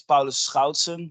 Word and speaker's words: Paulus Schoutsen: um as you said my name is Paul scoutson that's the correct pronunciation but it doesn't uh